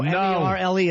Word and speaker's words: Merle: No, M-E-R-L-E is Merle.